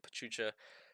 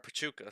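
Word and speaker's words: Pachuca: could see Salsburg and Pachucha uh or Pichuka, sorry, I've been pronouncing it wrong the whole time.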